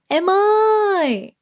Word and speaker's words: em ơi: But remember to draw out the last sound, okay? Em ơi.